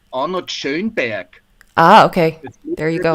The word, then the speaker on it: Schönberg: wanted to ask you, could you pronounce the name of Schönberg the way that a German would? Yes. Arnold Schönberg. Yeah, there we go. Yeah, that's it. Yeah, it's funny when Americans say it, it's Schoenberg, or Schoenberg, yeah, something like this.